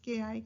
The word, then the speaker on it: chi: is for representing chi, so we pronounce it as ki, chi, kite, like we say.